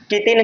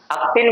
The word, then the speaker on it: क्तिन: कह पा रहे हैं, क्तिन, कीतिन नहीं, अक्तिन भी नहीं। ठीक है, तो इसे क्या कहते हैं? क्तिन प्रत्यय कहते हैं, क्तिन।